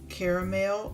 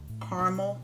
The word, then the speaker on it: caramel: Ella lilac ilex cherry caramel or caramel it depends on where you're from how you say it and the cosmos the